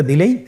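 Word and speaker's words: دال: দাল হরফটিও বারিক হরফ। উচ্চারণ করার সময় অবশ্যই 3 আলিফ টেনে পড়তে হবে। দালের মাখরাজ হলো জিহ্বার আগা সামনের উপরের 2 দাঁতের আগার সঙ্গে লাগিয়ে উচ্চারিত হয়।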